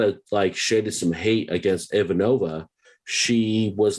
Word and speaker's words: Ivanova: If I do anything in our watch through of this podcast, I will get you all to say Ivanova's name right, damn it.